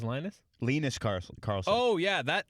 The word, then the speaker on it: Linus: by the way, is not, they were, the whole time, the announcer was pronouncing it Linus. It is Linus.